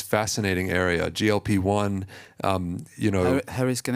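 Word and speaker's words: GLP-1: as a new armentarium so you pronounced it glip one you mean glp1 right okay because it's American versus the European explan uh description so um you know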